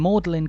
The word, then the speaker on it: Magdalen: pronunciation when the church was built was generally magdalin but when melin College was founded a few centuries later the common pronunciation had become melin the original way to